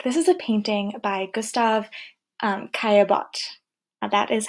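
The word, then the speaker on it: Gustave Caillebotte: This is a painting by Gustav Caillebotte, That is how you pronounce his name.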